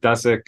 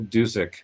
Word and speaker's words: Dusek: sure that we know it's not Dusick or Dusek. It's Marcel Dusick.